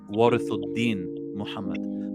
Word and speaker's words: Warith Deen: imam warith deen muhammad if you want to pronounce his name in the proper arabic fashion it would be imam warathin but he's also known